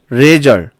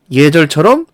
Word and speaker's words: 예절: 그래서 력사, 레절 이거는 발음이 되지 않고 역사, 예절처럼 리을이 탈락한 상태로만 발음할 수가 있는 것이죠.